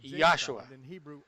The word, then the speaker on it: Yahshua: Eu pronuncio o nome de nosso Messias claramente como Yahshua. Não há J em hebraico ou grego, e Jesus não tem significado nenhum em hebraico.